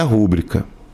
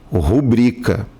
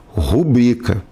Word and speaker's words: rubrica: Na verdade, a palavra não é rúbrica. Certo é rubrica. O certo é falar rubrica. Muitas pessoas equivocadamente falam rúbrica, como se tivesse até um acento ali que não existe, tá?